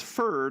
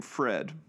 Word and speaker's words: Ferd: and ferd Sebastian yes his name is furred I'm not just mispronouncing the name Fred you may remember these